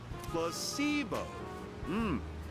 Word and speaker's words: placebo: today repeat after me placeo the stress is on the middle Sy very good you're